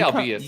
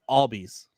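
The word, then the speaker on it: Albies: you pronounce his name i say obvious and i know i'm wrong yeah it's all bees all bees i've heard all vice i've heard albious and i know it's not obvious and that's why i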